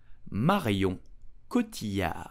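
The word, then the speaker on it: Marion Cotillard: her name correctly in French you will say Mario kutia do not pronounce did you know that's really known in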